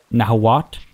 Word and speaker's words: Nahuatl: Nahuat, I've been told, is how it's actually pronounced. Nahuat. I always thought the TL was like a, not a click, but like a very distinct sound.